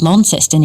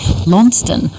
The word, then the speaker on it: Launceston: for our pronunciation of Launceston in Tassie. If you were talking about the town in Cornwall, it would, of course, be Launceston, with a silent C-E-S in the middle, like Worcestershire sauce.